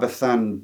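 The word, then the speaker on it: Bazán: I'm going to say Bethan because I've been told the zed is like a th pronounced in in Spanish, but I might butcher it anyway.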